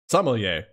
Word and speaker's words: sommelier: how this is pronounced see somalia pronunciation some of yay i believe sommelier all right thank you